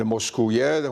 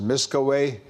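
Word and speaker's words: Miskawayh: By the great philosopher from Isfahan, Ibn Moskouye, whom the Arabs pronounce as Miskaway, because Uye doesn't exist in Arabic, that Persian sound, so it's away, like Sibaway.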